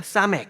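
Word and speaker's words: סמך: 번째 같이 읽어 볼까요 싸맥 맥 싸맥 맥 예 이것은 60이고 쌍시옷 스 발음이에 여기서 나옵니다 그래서 이것은 이제 버틴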